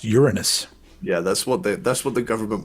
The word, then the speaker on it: Uranus: Is he from Uranus? Hey! Which I think I've learned that's the wrong way to say the name of that planet. I think it's pronounced Uranus.